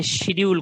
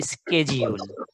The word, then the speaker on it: schedule: SCHEDULE, schedule, SCHE। আচ্ছা, school বানান কি বলতো? SC। তাহলে SCH দিয়ে আমি স্ক যদি হয়, তাহলে আমি এই শিডিউলটা এখানে স্ক কেন বলবো না? সো লাইক দ্যাট ব্রিটিশরা বলে শিডিউল, the different one, বাট আমেরিকানরা বলে স্কেজিউল। স্কেজিউল, আমেরিকানরা বলছে স্কেজিউল।